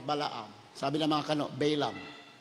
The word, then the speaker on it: Balaam: Sabi ng mga kano, Balaam. Balaam ang pronunciation ng mga kano eh. Pero sa atin, Balaam. Eh, hindi naman tayo kano eh. Pilipino tayo. Kaya Balaam tayo.